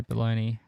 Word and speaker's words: bologna: stuff but it's not spelt bologna it's not spelt how it sound um yeah no i